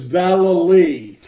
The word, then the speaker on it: Vallely: thank you I just have one correction is Vallely Vallely okay very confusing Sharon so I can